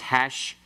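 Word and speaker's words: הַשְׁמַרְתֶּם: So that first one, the hateph pathach, then changes to a pathach. Becomes hashmartem. Hashmartem.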